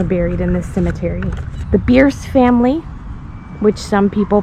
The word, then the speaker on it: Bierce: One being the Bierce family, which is actually pronounced Bierce.